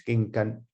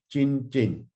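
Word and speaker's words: 經筋: Ging gan in Cantonese, ging gan, jin. I know it's quite near the pronunciation of Mandarin, yeah, but I'm a Cantonese, so I use ging gan ho.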